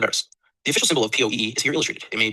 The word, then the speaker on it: POEE: POE, pronounced POEE, is an acronym for the Paratheo and Metaphysic Code of Eris Esoteric.